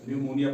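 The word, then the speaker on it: pneumonia: उसके बाद पीएन के कॉम्बिनेशन में ये देखो पीएन के combination P एन ई यू एम ओ एन ए इसको पी साइलेंट रखा जाएगा और निमोनिया पढ़ा जाएगा।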